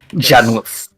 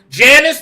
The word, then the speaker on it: Janus: spelled with a U. Janus. Yeah. Janice. Yeah. Not Janice.